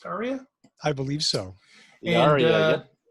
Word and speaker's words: Ariya: I believe it's pronounced Ariya.